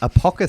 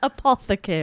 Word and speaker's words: apothecary: but uh it's uh it's at the bards apoca there i think it's the first time i've